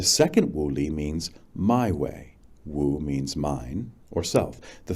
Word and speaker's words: Wu: produces a different woolee, each with the same English spelling, and each pronounced in English woo.